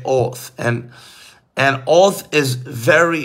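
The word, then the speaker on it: אות: man the word sign in Hebrew is oath I wanted to say oath and and oath is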